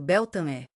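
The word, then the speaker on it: Beltane: Beltan, pronunciado Beltané, marcou esse renascimento vibrante.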